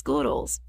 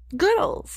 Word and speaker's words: Goodles: It's pronounced Goodles, like noodles, Goodles. Goodles, Goodles, get it?